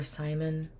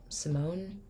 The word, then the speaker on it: Simon: old Leilani Simone or Simon I'm pretty sure it's Simon but I heard someone say pronounce like Simone so but it's Simon from Savannah Georgia called